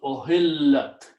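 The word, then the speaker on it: أُحِلَّتْ: If the thing which is being made halal is a feminine thing, then we put a ta at the end and pronounce ohillat.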